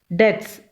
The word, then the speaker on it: debts: Debts. D-E-B-T-S, B is silent.